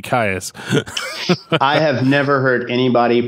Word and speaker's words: Kyuss: I always just said kaas right but I heard somebody calling them like Kei or but I was like no that's too much like Kiss it's got to be Ka I have never heard